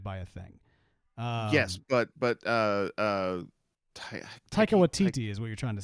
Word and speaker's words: Taika Waititi: Yes, but Taika Waititi is what you're trying to say.